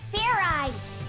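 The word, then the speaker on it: Fairize: It's pronounced ferrize! There's no ice in it!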